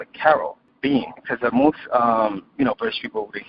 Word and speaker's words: Karobean: So there's Caribbean, there's Karobean. So then I said, you know what, I'm going to come with Karobean so that way people can pronounce it the English way, versus the American and standard way of saying Caribbean.